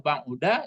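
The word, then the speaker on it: بَعُدَ: Kalau ba'id jauh-jauhkan, tapi kalau ba'uda jauh. Jauh. Jauh. Ka'an. Seolah-olah gini dia. Apa bacanya sampai sini coba? Ka'annahu ba'da. Jangan ba'da. Ikulah ba'uda itu mengkodai orang baris.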